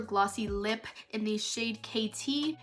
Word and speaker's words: Caiti: lip in the shade Caiti. It's actually like KT, but not the way I spell it.